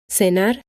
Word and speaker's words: cenar: In Spain, when the letter C is followed by the vowels e or I, it is pronounced th. Cenar, 5. This sound is called the theta and is very similar to the th sound of think or thank you.